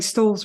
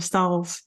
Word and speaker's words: Stahls: And I think I'm even saying Stalls wrong. I'm saying Stalls instead of Stahls.